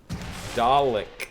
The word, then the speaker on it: Dalek: It's not Dar, it's Dalek.